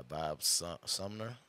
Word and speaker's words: Bob Sumner: to watch you you get picked up by Bob Sumner that's how you say his name that is